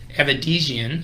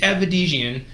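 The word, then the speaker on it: Avedisian: The first one being Jade Avedizian. I think I'm saying that right. I pronounced that wrong. Holy cow. How do you say it? Aver? Yeah. Oh, yeah, there's no R in there.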